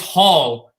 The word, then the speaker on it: Hall: stutter or something, but he pronounced my last name wrong. It's Hall. He said ball at 3.